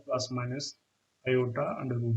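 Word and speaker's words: iota: English में इसको आई से डिनोट करते हैं, लेकिन ग्रीक में आई को आयोटा प्रोनाउंस करते हैं। तो इस वजह से हम लिख सकते हैं इसको -1 अंडर रूट को आयोटा लिख सकते हैं या आई लिख सकते हैं।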